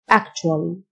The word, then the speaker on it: actually: التيو تنطق تش actually.